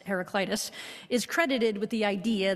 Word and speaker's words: Heraclitus: Greek philosopher Heraclitus, or Heraclitus if you are Greek, there's lots of different pronunciations on the web, but most of us decide it's Heraclitus, is credited with the idea that change is the only constant.